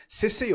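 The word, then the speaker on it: CISI: Okay, so in the past week or so, the Chartered Institute of Securities and Investments, or Cece or Kissy, however you want to pronounce it, Cece, had its annual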